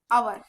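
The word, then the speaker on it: hour: थोड्या वेळापूर्वीच बघितलं की आवर प्रन्सिएशन कस येत आवर म्हणजेच अ वरून आवरून स्टार्ट होत सो याच जे साऊंड आहे तेल सारख आहे आणि जेव्हा कधी उच्चार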